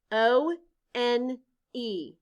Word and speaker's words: one: spell it out loud o n e in this word the letter o stands for the sounds the letter e is silent blend with me now